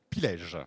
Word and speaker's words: Pilège: Alors, on prononce Pilge. Pilège, voilà, qui travaille sur les microbiotes, donc la micronutrition et la phytothérapie.